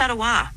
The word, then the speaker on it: Ottawa: Similarly, the name of the nation's capital, Ottawa, is pronounced Ottawa.